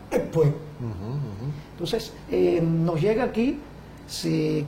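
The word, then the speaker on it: Ekpe: Cuba, don Fernando Ortiz, Ekwe se pronuncia muy parecido a Empe, porque la escritura inglesa E-K-P-E viene a sonar como Ekwe.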